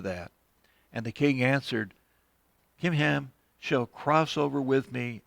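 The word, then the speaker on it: Chimham: but here is your servant kim ham now at first i was pronouncing that chim but i was looking it up and it's pronounced with a k kim ham let him uh and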